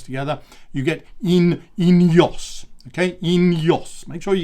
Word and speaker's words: Ineos: It's all going to be produced in Monaco, and the name of that company is Ineos. Okay, Ineos. So in as in and out of fashion, and then Jos as in Jos van Enden, great Dutch time trialist.